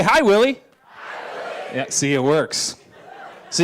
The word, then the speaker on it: Willy: of people so hi my name is Willie it rhymes with silly gotcha that one tunnel